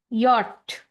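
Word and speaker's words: Jot: जे जो है वो हो जाएगा यॉट। का जो है के जो है वो हो जाएगा का। एल, एल का प्रोनाउंसिएशन इंग्लिश एंड जर्मन में सेम ही रहेगा।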